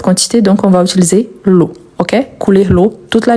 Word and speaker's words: l'eau: Tout d'abord qu'on a les mots O qui se répètent partout, vous voyez que c'est ensemble a + u et e a u. On lui prononce o.